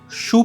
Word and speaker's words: choux: The batter is essentially a traditional French 'Choux Pastry'. Yes, you heard that right! It's called 'Choux' (pronounced like 'shoe').